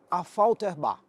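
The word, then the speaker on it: Affalterbach: aqui ó para começar a pronúncia em Alemão é um pouquinho mais difícil mas é a fter bar Essa é a cidade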